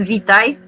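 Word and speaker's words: Witaj: The right pronunciation is Vitaj, like you would use Vitaj, and that's just hello.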